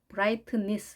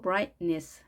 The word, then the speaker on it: brightness: brightness 이렇게 트 발음을 하지 않고 brightness 이렇게 가볍게 발음하시면 되겠습니다.